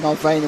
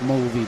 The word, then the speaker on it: Mulvey: That's Mulvey, by the way. Oh, right. Adding extra syllables to his name.